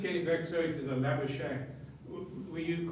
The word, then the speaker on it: Labuschagne: Like I said, you know, over here they'll pronounce it Labuschagne. But Labuschagne is sort of, you know, what it is.